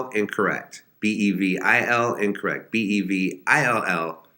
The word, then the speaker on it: Bevill: Bevel, incorrect. Bevil, incorrect. Bevill, correct.